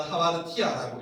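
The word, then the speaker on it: ἁμαρτία: 읽어보면 하마드티아라고 읽어요.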